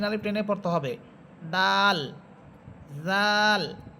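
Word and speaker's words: ذال: টেনে পড়তে হবে দাল জাল জাল জিহ্বার আগা সামনের উপরের দুই দাঁতের আগার সাথে লাগবে দালটা লাগবে গোড়ার সাথে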